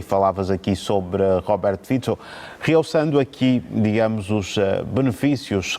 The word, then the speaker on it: Fico: Eu chamo de Fico, eu sei que a pronúncia né, é Fico, mas por aí em língua portuguesa temos esse hábito de adaptar o nome.